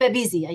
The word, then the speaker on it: Babesia: MELISSA PRUSINSKI: "Babesia," yup.